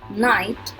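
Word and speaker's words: knight: चमकीला, टाइट कसा हुआ, नाइट शूरवीर. अब इसमें भी देखो नाइट और ये वाला नाइट. इस नाइट को बोलते हैं रात, इस नाइट को बोलते हैं शूरवीर. एंड इसमें के भी साइलेंट है और GH भी साइलेंट है.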